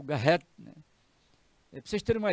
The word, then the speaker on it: Garrett: Mas vamos pronunciar mesmo em português, Garrett.